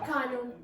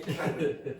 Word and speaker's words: Canon: Canon. The C A N. It's exactly the same as I just said. Okay. Canon.